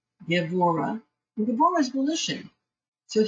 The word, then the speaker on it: Gevurah: This B is pronounced like a B, that much of Hebrew I know. Gevurah.